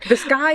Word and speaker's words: Vizcaya: Vizcaya.